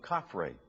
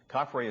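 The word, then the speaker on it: Khafre: were built by khufu's successors the tomb of kaphri is the second pyramid of giza kaphrae is spelled k h a f r e it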